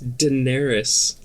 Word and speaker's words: Daenerys: I just want to say Daenerys again. No? It's not. Is Daenerys the dragon lady? It's Daenerys.